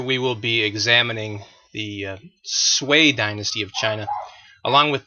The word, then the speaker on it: Sui: chinese civilization uh again the the name is pronounced sway the sway reunified the chinese empire after more than a century of north south disunion and civil wars to accomplish their goals the sway dynasty enacted a series of high taxes and